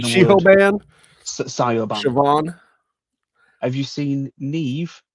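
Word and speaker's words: Niamh: Have you seen Neve? It's spelt Niamph. It's NIAMPH. How it's Neve, I'll never get.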